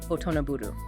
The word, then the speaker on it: 大人振る: The Japanese verb for acting like an adult is otonaburu. Phonetically, when you say it out loud, it sounds exactly like the English title of the song, Otonablue.